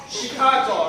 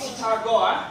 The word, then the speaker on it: Chicago: This word is pronounced as Chicago, right? Not Chicago, like the usual Asian how we speak.